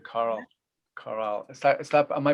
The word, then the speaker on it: Coral: That's a lovely name, Coral. Coral. Is that am I pronouncing that right? Coral? Coral, yeah.